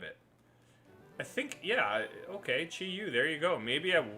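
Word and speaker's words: Chi-Yu: I think, yeah, okay, Chi Yu, there you go.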